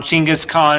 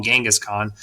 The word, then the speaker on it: Genghis Khan: mongol leader genghis khan chingas khan is he's often pronounced as well most commonly in the west we call him genghis khan um but his born